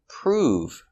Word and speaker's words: prove: to move very good another example prove making the long oo sound prove prove is the